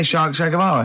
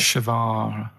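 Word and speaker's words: Guevara: Shay is like shake and his his surname is like guitar, right? Shavar.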